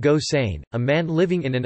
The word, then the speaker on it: Gosseyn: topic plot summary Gilbert Goss ein pronounced gosain a man living in